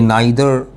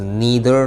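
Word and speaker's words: neither: आपको बताता हूँ, हाँ, नीदर, ये नाइदर भी पढ़ा जाता है अमेरिकन इंग्लिश में, बट द correct pronunciation in British English is नीदर नॉर ईदर और, राइट। मगर नाइदर और आइदर भी फैशन में है, चलेगा, गलत नहीं है।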